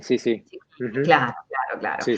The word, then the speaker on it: Cicchini: Hoy yo cuando te iba a presentar decía, pero ¿pronuncio el apellido a lo italiano o lo pronuncio como aquí en Uruguay a lo uruguayo? ¿No? ¿Allá sos Chiquini o cómo? Cicchini, sí, sí. Chiquini, Ujú.